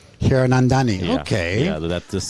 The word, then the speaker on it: Hiranandani: How do you pronounce it? Hola, amigos. So my last name goes Hiranandani. Hiranandani.